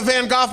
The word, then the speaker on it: van Gogh: - we're at the van Gogh Museum in Amsterdam yeah have some respect for other cultures Miller that's the proper Dutch pronunciation all right dr.